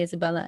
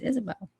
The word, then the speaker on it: Isabel: it however you want some people call me Isabella and that's not my name my name is Isabelle um anyway yeah so